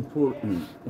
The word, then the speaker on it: important: بصوا بقى important، ممكن اقول ايه important، important كده ما انطقش التلي في الاخر، important، important بنفس الطريقه دي، الاولى تتنطق التلي الاولى همزه والثانيه ما تتنطقش، important.